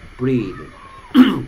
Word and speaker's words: breathe: breath, breathe. bath, bathe. 됐습니까? th의 발음이 얘는 번데기 발음입니다. bath. 얘는 똑같이 혀를 무는데 z 발음입니다. bathe. bath, bathe. 얘도 breath, breathe.